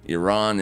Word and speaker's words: Iran: Iran is the pronunciation.